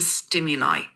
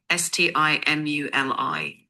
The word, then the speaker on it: stimuli: You probably mean stimuli, STIMULI, which Stimuli. means the inputs or signals your brain is getting.